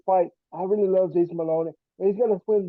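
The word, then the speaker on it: Moloney: Maloney, that's how you say his name.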